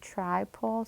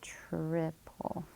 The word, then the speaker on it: triple: ends of the vowel, so it'd be a long I sound, but it's not tripole, so that's why this one's a red word. The word is triple.